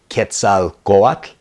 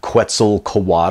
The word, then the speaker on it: Quetzalcoatl: I get asked about often is ketse guac not Quetzalcoatl or Quetzalcoatl but ketse go up another one that we